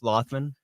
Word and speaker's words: Lothman: said it right and that's not correct it's lothman Bob says like that